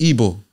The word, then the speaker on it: Igbo: be even more tribe Igbo yeah that's that's evil but it's spelled like Igbo it's like yeah listen